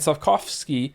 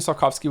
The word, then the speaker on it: Sapkowski: Pronouncing Sapkowski with a W sound kills me. Did I say it wrong? I'm sorry. Sapkowski?